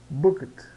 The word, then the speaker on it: booked: a eu reservei quarto Observe o seguinte booket booket né esse e aqui no meio é mudo tá então booked I have booked a